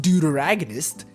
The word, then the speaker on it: deuteragonist: what a deuteragonist is okay so dear agonists pronounced deuteragonist is this is by the Oxford dictionary by